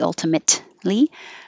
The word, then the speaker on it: ultimately: Ultimately, and don't pronounce the T ultimately. Ultimately.